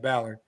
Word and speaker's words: Ballard: Man, what Ballard WMA Ballard. I kind of was thinking it was started with a B. Yeah, rhymes with Mallard, easy to remember.